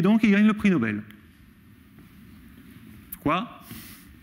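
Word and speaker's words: Noble: Alors, le truc qu'il faut bien regarder, c'est qu'ici, Nobel, ça s'écrit N-O-B-L-E.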